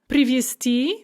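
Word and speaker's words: привезти: So привести spelled with a z, but pronounced s there because of automatic devoicing, which means to bring somewhere by vehicle.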